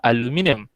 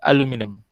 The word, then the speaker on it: aluminium: Okay, beza kalau dekat US orang sebut aluminium, beza pronunciation lah, okay. Kalau kat orang Malaysia ataupun orang UK akan sebut aluminium, but for orang US akan sebut aluminium. Hilang I tu, aluminium.